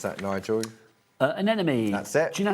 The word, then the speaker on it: anemone: Anemone. That's it. Do you know how to say that? No, what's that's what I'm saying. No, but what's the opposite of a friend? An enemy.